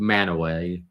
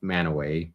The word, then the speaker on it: Mantua: It's called Manaway, spelled Mantua, pronounced Manaway in Utah.